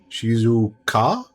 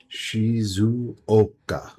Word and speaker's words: Shizuoka: Shizu's Shizuka? Shizuka? My pronunciation's being butchering it. Shizuka. Shizuka. Shizuoka. Shizuoka.